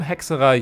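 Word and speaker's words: Hexerei: This group, let's just call them hexerai units, yes, that's how you say it, trust me, for the remainder of the video, are basically part of a new faction.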